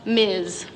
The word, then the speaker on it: Ms: Anyway, to make things equal, we have this new designation in front of our names, MS, pronounced Miz.